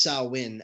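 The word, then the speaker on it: Samhain: on it and um it's you know it's pronounced sawin actually um Sam Hayne it's pronounced saim Chandler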